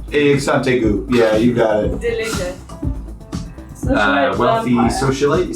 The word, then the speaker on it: Delute: you spell that? O-R-O-S-A-R-I. Rosari. Delute. D-E-L-U-T-E. Delute. Dilute. Exantegu. Yeah, you got it. Dilute.